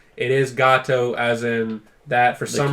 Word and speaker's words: Gato Roboto: It is Gato, as in.